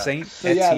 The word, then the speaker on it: Saint Etienne: Watch the pronunciation videos. Yeah. Saint Etienne.